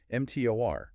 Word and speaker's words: mTOR: And then on the complete opposite end, you have MTOR, pronounced mTOR.